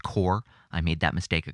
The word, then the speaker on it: Corps: The Corps, who I played on the show a couple of times already, spelt C-O-R-P-S, but pronounced Core.